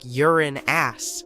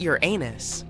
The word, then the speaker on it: Uranus: Astronomers say we should be pronouncing it like Uran ass, not Uranus.